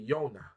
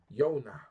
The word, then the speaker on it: Yona: the in the Hebrew language so we say Yona Yona Yol wild noon hay now you see how